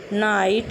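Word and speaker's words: know: तो किसी स्पेलिंग में अगर के जस्ट बाद एन आता है, मतलब के जस्ट बाद एन आता है, तथा एन के बाद कोई वोवेल एन के बाद कोई vowel means A ई आई ओ यू, इनमें से कोई आता है तो वहाँ पर के साइलेंट हो जाता है।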